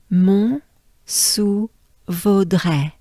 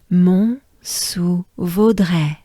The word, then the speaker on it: Mont-sous-Vaudrey: good breath before it, so you inhale while exhaling to pronounce the R. But so inhale, de re. All right. Now we go back to the beginning of the name, Mont-sous-Vaudrey.